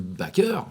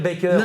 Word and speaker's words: Baker: Il adore Joséphine Baker. Ah, j'arrête pas de dire Baker. Non. Joséphine Elle aimait bien Baker. de prononcer à la française.